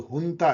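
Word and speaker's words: junta: जब मैं आज आपसे बात कर रहा हूं तो अभी म्यांमार में जो है वहां की जो हुंता है, उसको जुंता कहते हैं लेकिन प्रोनाउंस करते हैं हुंता, मतलब वहां जो मिलिट्री शासक है उनको हुंता कहते हैं।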